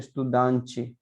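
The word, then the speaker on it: estudante: तो जहां अगर कोई शब्द टी और ई पे खत्म होता है तो उसको उसका उच्चारण वो च के रूप में करते हैं।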